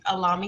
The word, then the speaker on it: Allahme: My name is Allahme A, pronounced like salami, remove the S.